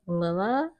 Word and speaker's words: Lilas: It is following this woman named Lilas or Lila, maybe, because you don't pronounce consonants at the end of French words, I believe.